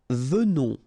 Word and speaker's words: venons: Nous venons. Okay, so final S not pronounced, and then remember that you pronounce this like a the. Venons. Okay, O-N in your nose, on.